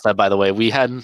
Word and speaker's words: Miifin: Miifin. We were Miifin? Okay. Yeah, short I. The double I was a typo, and it just stuck.